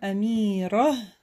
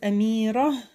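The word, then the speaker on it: أميرة: и так мы видим амира вот это там арбу то при остановке читается как буква которая часто даже не слышно итак у нас амира это имя женская принцесса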